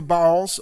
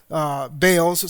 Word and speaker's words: Baals: As soon as Gideon died, the people of Israel turned again and whored after the Baals, or Baals, some would pronounce it, but it's literally actually Baals, and made Baal Berith their god."